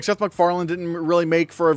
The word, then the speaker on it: MacFarlane: Like, it's spelled like like, you have it almost, but instead of a D, it should be an E. Also, it should be Mac, like M-A-C, Farlane.